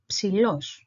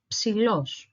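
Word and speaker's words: ψηλός: So the first syllable is psi. Then we have l, o, and s. So los, the second syllable. Altogether, psilos, psilos.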